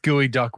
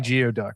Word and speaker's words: geoduck: it's the same geoduck how is it pronounced gooey duck when it's clearly geoduck geoduck how is it gooey